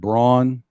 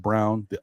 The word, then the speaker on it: Braun: you know they Bruce Brown uh the kid Braun or no it's actually it's spelled Brawn but it's actually pronounced Brown the kid the young kid um you know